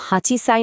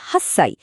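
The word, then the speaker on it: 八歳: তবে কিছু সংখ্যার ক্ষেত্রে উচ্চারণটা একটু বদলে যায়। যেমন আট বছর কিন্তু হাঁচি সাই নয় বরং এটাকে বলে হাসসাই।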